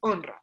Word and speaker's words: honra: Y me quedé mirando la palabra honra y yo, ¿por qué honra se escribe con una sola R si suena como una doble R?